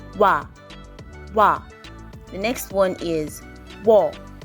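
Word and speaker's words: ㅝ: The next one is wo.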